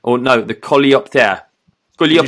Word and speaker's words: Coleopter: So it's called the Coleocopter, or no, the Coleopter. Can you spell that for our listeners?